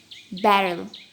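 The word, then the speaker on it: Braille: At Radcliffe college Helen learn BRAI ব্যারেল। এটা ব্যারেলি, ইটা উচ্চারণ হবে না, তাহলে এটা ব্যারেল হবে।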